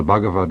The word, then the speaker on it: Bhagavad Gita: or Bhagavad the Lord Gita Song, the Song of the Lord. It is spelled B-H-A-G-A-V-A-D, Bhagavad, Gita, G-I-T-A.